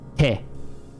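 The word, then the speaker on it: て: Te. That's a te. Te. That easy. And this will never be read any other way. There is no other pronunciation for te.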